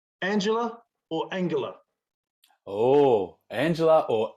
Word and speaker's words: Angela: So Angela Merkel, which I have on really excellent advice from a work friend who is German. Okay. Is Angela.